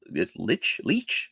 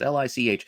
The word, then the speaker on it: Lich: I also think this Leech. I don't know how you say it. It's Lich.